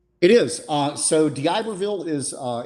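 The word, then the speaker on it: D'Iberville: on September 20th and what's the can you pronounce for me the name of the city I can it is in Diberville yes which is your Diberville Mississippi which is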